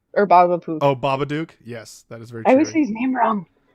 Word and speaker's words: Babadook: Baba Poof. Or Baba Poof. Oh, Babadook?